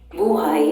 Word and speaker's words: buhay: Buhay or buhay means either life or alive, depending on at which syllable the accent falls when pronounced.